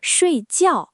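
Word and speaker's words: 睡觉: 对，但是睡觉两个字都是第四声，听起来感觉就完全不一样了。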